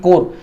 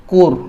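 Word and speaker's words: corps: जैसे जो एनसीसी होती है ना, एनसीसी नेशनल कैडेट कोर, ये क्या एक सैनिक टुकड़ी का एक प्रकार है, इसको कहा जाता है कोर।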